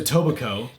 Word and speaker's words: tobiko: was uh-huh do you want to try to pronounce it it's a what it's a book Coco no it's a tobiko it looks like it looks like Etobicoke k--